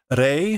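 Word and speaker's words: 零: Rei, her name, means zero. Note, I mean, right, they keep referring to the zero go machine, the zero number, zero unit. But typically in Japanese, zero is pronounced rei.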